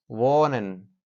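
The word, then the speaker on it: wohnen: ماند وان و وان وهن نمیگیم ای تلفظ نمیشه وانن خب وان موند وان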